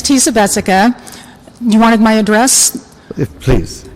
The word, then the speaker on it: Tisa Jessica: i love this because you put it at rhymes with imagine everyone who did that we were pronouncing our names correctly so thank you very much my name is teesa bessica you wanted my address